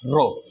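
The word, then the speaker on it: ρ: ठीक, इसको प्रोनाउंसिएट किया जाता है रो से।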